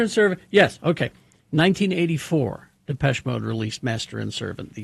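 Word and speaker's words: Depeche Mode: the song, but uh uh yes, Depes Mode. Depes Master and Servant. Yes. Okay. 1984, Depes Mode released Master and Servant, the second single from their fourth studio album, Some Great Reward.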